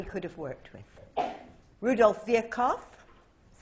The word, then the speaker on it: Virchow: Rudolph Virchow, that's how you pronounce his name.